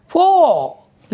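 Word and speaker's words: four: ठीक, वो जो मुंह से जो आवाज़ निकल रही है ओ की और यू की, हम सिर्फ यू को नहीं करेंगे, फोर ये sound silent, you sound silent, to एंड टू आर फोर, right, exactly.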